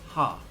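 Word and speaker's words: は: This is actually pronounced ha, but when it comes to sentences, it's going to be pronounced wa.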